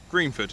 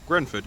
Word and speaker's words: Greenford: If you want to do it properly, Greenford. If you want to do it incorrectly, Grenford.